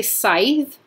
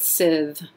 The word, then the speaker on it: scythe: good coffin okay SIV I hear people say sighs scythe um I may be wrong I in drama school we we got told to pronounce it Sid with a voiced th just the thing thought